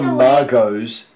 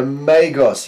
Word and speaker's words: Magos: Oh, not the Margos, the Magos.